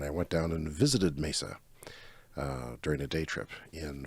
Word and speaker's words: Mesa: sitting on our Terrace and missa Arizona is it Mesa Mesa Arizona I've been there I